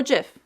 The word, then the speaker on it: GIF: being jpeg png and gif or gif depending on how you want to pronounce that one in order to keep